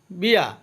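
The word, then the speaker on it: bear: বিয়া অর্থ বাল্লুক, এখানে আর এর উচ্চারণ হবে না, বিয়া অর্থ বাল্লুক।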